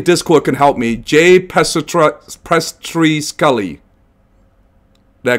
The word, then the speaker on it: Pestrichelli: Jay PESTRICHELLI. Did I pronounce correctly? Close it. PESTRICHELLI.